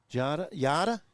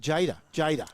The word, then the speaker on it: Jada: Yada? How do you say that? Jada. Jada Burgraff. Yeah, Jada.